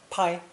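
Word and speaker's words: 拍: to shoot a movie chinese uses first tone pai paigenying a movie star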